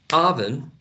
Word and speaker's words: oven: mentioned that martin because oven in the first level we find the wedge but in the second syllable we find ishwa a very relaxed lazy weak vowel sound okay i leave this